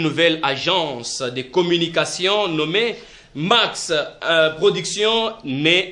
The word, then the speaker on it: Maxe: Prod, c'est ça qui veut dire Max. C'est pour dans la prononciation, on a toujours dit Max. Donc c'est M-A-X-E, qui veut dire mentalité d'analyse d'une production évolue.